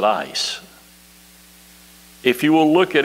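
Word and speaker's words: εἰς: it epsilon yota sigma which should pronounce it ice if you will look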